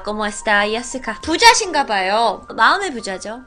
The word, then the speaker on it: Jessica: 아, ¿cómo está, Jessica라 그래야 돼. 거기 애들은 J를 예로 발음하거든. 아, ¿cómo está, Jessica?